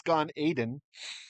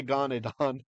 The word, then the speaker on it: Gan Eden: In Hebrew, it's Gan Eden, but we say Gan Edan. So if you hear that, and you're like, why? That's not how you say it. Now you know why. Okay, the why behind it's the influence of Aramaic coming in as a loan word, loan phrase into Jewish usage of English.